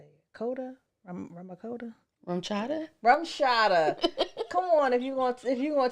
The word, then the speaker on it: RumChata: Rumchata.